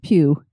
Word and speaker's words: Pugh: said it that way, and that probably is how you say it, is I actually had a friend in school, and that was her last name, was P-U-G-H, and it was Pugh.